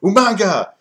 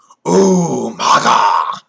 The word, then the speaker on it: Umaga: the general manager, so he would keep pronouncing it wrong. So he'd be like Umanga or Umanga, and then like, Vince would come on and it's just like, why are you saying his name wrong? It's like Husa. It's like Umaga.